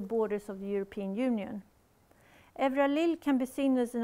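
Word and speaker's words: Euralille: It's not Euralil, it's Evralil. Evralil, by the French architect and critic Valéry Didelon.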